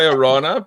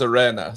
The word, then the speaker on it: Orana: So like we we say Orana, but North America says Arena, so Oh okay.